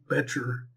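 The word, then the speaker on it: Bettger: in Selling by Frank Betcher. And it's spelled, his last name is B-E-T-T-G-E-R. So it's kind of, it doesn't sound like it's spelled.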